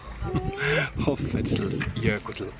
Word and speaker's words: Hoffellsjökull: The place name is Hoffell, and then because it's the glacier, it's Jökull, and then there's an S in between, so it's Hoffell. Hoffell Jökull.